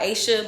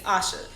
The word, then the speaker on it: Asha: pronounce the correct pronouncing the pronunciation of my name is Asha the letter A makes the uh sound my name I go by Asia but the correct pronunciation is Asha so me not correcting